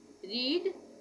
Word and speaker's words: read: यहाँ पे pronunciation change हो जाएगी, फर्स्ट फॉर्म में रीड रहेगा, सेकंड फॉर्म में हम रेड बोलेंगे, और थर्ड फॉर्म में भी हम इसका प्रोनाउंसिएशन क्या करेंगे, रेड।